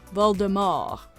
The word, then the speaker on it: Voldemort: The book's author also acknowledged being possibly the only person who pronounces it that way. Voldemort.